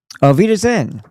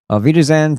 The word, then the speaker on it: Auf Wiedersehen: And then, "Auf Wiedersehen." Phonetically, it sounds or rhymes with Velveeta Zein. To the lies of Rothschild and the international cult of child harmers. Auf Wiedersehen to the spell of